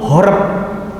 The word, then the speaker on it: Horeb: Kalau bahasa Arabnya disamakan haroba. Ini sama bacanya haroba. Kalau tanpa nikut. Kalau dengan nikut horeb.